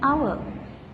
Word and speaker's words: hour: Sarah had returned after an hour. Here, hour is starting with consonant letter, but this letter is silent and mute, so it is giving vowel sound.